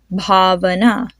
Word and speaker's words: Bhavana: Keeping your hand in front of your face, feel the puff of air. Bhavana.